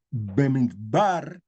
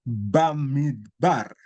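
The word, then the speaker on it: במדבר: Se puede leer Bemidbar o se le puede leer Bamidbar. La única diferencia es esa vocal que corresponde a la vocal de esta primera letra, que es una preposición,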